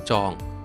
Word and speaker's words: จอง: เดือน กุมภาพันธ์ สำหรับ ดอยม่อน จอง นะ ครับ ดอยม่อน จอง เนี่ย ภาษา ดอย เ เรียก ว่า เขา ซึ่ง หมาย ถึง ว่า จอง เนี่ย เป็น ภาษา คำ เมือง นะ จะ ออก เสียง ว่า จ๋อง นะ ครับ ดอยม่อน จอง นะ